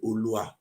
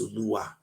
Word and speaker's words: Oluwa: We say Olua, but it's Oluwa.